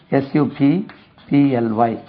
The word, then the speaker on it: supply: தேவையை பூர்த்தி செய், விநியோகம் செய், supply, spelling கவனிங்க, SUPPLY, உச்சரிப்பை கவனிங்க, supply, second syllable now, supply, அப்படியே supply, supplied,